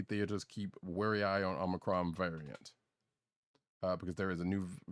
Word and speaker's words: Omicron: I'm glad that Roddykat pronounced it correctly and did not call it the Omarion variant, because one of the